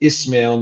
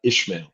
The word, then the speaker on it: Ismaël: I still challenge myself to say Ismaël, not Ishmael.